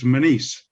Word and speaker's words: Manise: No, it's Manise. That's what I thought. Well, we've been mispronouncing it for a whole year, so, She'll get it.